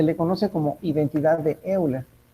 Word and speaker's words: Euler: Se le conoce como identidad de Euler.